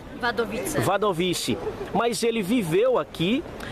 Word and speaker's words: Wadowice: É assim que se pronuncia? Wadowice.